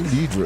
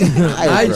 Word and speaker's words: Nidra: She's looking at me like, don't say Nidra. It's Nidra.